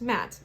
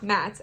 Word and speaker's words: Ma'at: It's pronounced Matt. Okay, Matt.